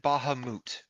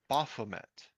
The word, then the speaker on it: Bahamut: right, The name's pronounced Bahamut. right, The character, as a quirk, mispronounces or mispronounces gives names, right? people Yeah, random names. yeah, So she mispronounced it as Baphomet, which right, is another beast of legend, because right.